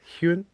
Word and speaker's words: Huynh: Hun. Quinn with an H in front of it.